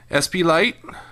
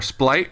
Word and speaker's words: Splight: rendering there of uh spite or splite rather I it's used to calling them spite but I think of the official pronunciation is splite and his Evolution rules